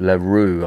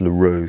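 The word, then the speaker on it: Le Roeulx: the french speaking part in a place called le roux i think it's pronounced ellie r-o-u-l-x so i think that's larue something like that but as i say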